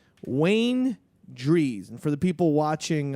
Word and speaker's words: Drehs: Wayne Drees, I believe is how you uh Oh. But you spell it d r e h s. Wayne Drees.